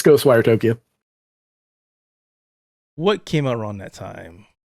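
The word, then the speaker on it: Ghostwire Tokyo: let's take a look goes wire Tokyo or was it the other way I always pronounce the game wrong it's ghost wire Tokyo what came around that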